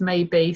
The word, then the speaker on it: Mabey: are you spelling that because your name is maybe so just bear in my mind the radio so it's probably easy to just fill your company name okay so my business name is spelled ma Y be e and baby Maternity whereas my surname is spelt ma be ey rights okay so play on maybe C maybe and baby